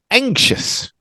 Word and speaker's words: anxious: maybe more is the ks sound but this is one of the strange ones anxious ink just like a bank anxious that sounds good